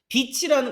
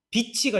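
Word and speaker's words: beach: 비치라는 거 발음 조심하세요. 이것도. 비치가 아니라 비치야. 해변가니까. 해변이니까. 비치. 비치 이러면 안 된다고. 그럼 싸우자는 거야.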